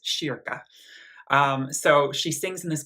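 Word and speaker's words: kyrka: that when I was in Sweden it's not pronounced Kira it's pronounced Shir so she sings in this gorgeous small kind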